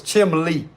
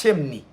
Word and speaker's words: chimney: the word chimney chimney always thought it was chimley but it's chimney chimney I don't know it